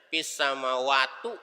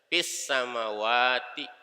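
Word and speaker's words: فِي السَّمَاوَاتِ: Samawati nggak boleh dibaca fis samawatu, nggak boleh. Nggak boleh dibaca fis samawata, nggak boleh. Fungsinya fi adalah mengkasrohkan kata sesudahnya. Fis samawati. Wa fil ardi itu nggak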